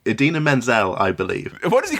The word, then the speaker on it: Idina Menzel: Right, we've got John Travolta, who I primarily know from Pulp Fiction and also Adele Dazeem, which is when he... butchered the pronunciation of Idina Menzel, I believe.